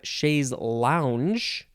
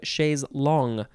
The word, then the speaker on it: chaise longue: Okay, so next we have chaise lounge. I'm guessing that this came straight from chaise long because the English people couldn't say long. They had to say lounge.